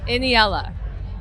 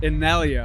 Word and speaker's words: Innellea: one of the most anticipated artists of seismic in yellow did I say it right almost I've been